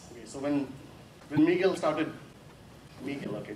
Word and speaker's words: Miguel: Miguel, okay. My daughter tells me I should pronounce Miguel like that rather than Miguel.